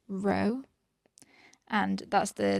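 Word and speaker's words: ρ: with the letters and this here is a greek letter it's pronounced row and that's the letter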